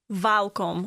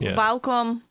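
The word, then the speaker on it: welkom: but it's you the the W is pronounced as a v vom vcom vom okay how to say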